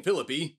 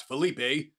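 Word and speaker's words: Phillippe: that with a grain of salt right in Philippi that's how you pronounce his name by the way not Felipe who plays a key character in The Classic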